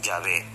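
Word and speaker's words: Yahvé: consenso de los ebrardistas la pronunciación más correcta es llave tanto en hebreo como en español el nombre jehová es un error y la secta de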